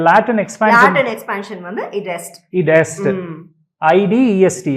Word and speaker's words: id est: Option C. Id est. Id est. Id est. IE அப்படினா id est. Id est. Actually IE அப்படினா that is. That is. ஓ, அதனுடைய Latin expansion வந்து id est. Id est.